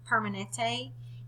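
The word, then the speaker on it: Kaiser Permanente: into the clinic at the Kaiser thank you pronounce that permanent Permanente in San Diego over over 17,000 were asked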